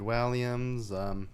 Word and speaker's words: Walliams: David Walliams. I Oh. don't recognize any of his work. You were pronouncing his name right.